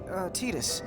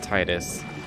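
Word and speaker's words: Tidus: some other time so we're to realize pronounced eatest and not Titus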